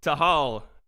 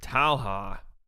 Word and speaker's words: Talha: __ ] crazy yo tahal that's definitely not how you say your name Talha I can't pronounce it